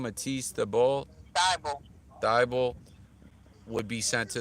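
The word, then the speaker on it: Thybulle: Matisse Thibault.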